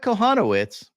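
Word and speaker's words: Kochanowicz: sliders he faced Jack konowitz remember the sea is silent who had three KS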